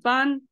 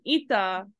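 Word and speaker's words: 板: of these kanji right bun and ITA did not come from the same word like it's not like a difference between rendaku between ITA and ban right the difference is that ITA is um single and ban is married and when Bonn is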